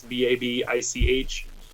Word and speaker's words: Babich: Pardon me if I mispronounce the last name. Babich. It's Babich. On Twitter, he's at JeffB3R.